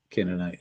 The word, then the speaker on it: Canaani: drive out the Canaani, that's the way that Canaanite is pronounced, Canaani, the Amori, and the